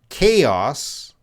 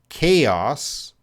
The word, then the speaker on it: chaos: Chaos. Chaos has a strong K sound.